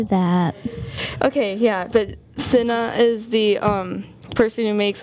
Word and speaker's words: Cinna: There's also Cinna. Okay. That's how you say it. Yeah, Cinna.